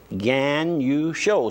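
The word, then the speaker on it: Ganucheau: I said, how do you pronounce that last name of you and your husband? She says, Gagnon show. So I wrote it down, G-A-N, capital U, show, S-H-O-W. Just like it's spelled. Just like, yeah. It's spelled G-A-N-U-C-H-E-A-U.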